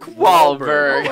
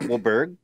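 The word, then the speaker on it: Wahlberg: Bro, your name is Mark Wahberg. Mark Wahberg. Well, the H is silent.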